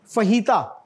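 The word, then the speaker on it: fajitas: की चीज है और इसमें जे जो है ना य चच बन जाता है दिस इ स्पेनिश फही तो यह जहन में रखिएगा स्पेनिश में जो जे है ना व एच बोला जाता है बहुत काम आएगी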